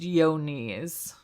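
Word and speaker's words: Johne's: I might have to burst your bubble though, because I just Googled it and it says it's pronounced Yonis.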